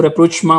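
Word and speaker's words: rapprochement: तो उन्होंने अलीगढ़ मूवमेंट या सर सैयद की जात से जो चीज निकलती है वो है रेप्रोचमा इसको रेपोचमा प्रोनाउंस किया जाता है रेप्रोचमा मीन्स एन एस्टब्लिशमेंट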